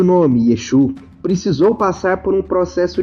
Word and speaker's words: Yeshua: judeus naquele período e seu nome Originalmente é pronunciado como yeshu ou Yeshua este nome era Maicon